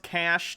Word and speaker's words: cache: figure this out yeah i thought it was pronounced cash too like the e is silent i don't think i've heard it pronounced cachet he claims he was in